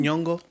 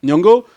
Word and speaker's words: Nyong'o: Nyong'o. Nyong'o.